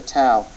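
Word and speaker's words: ת: When the tau does not have a dogish lene in it, it's soft, and its pronunciation is TH. TH as in thin, the TH in thin, thing, thin, thing, these. That TH sound derives from the tau without the dogish lene.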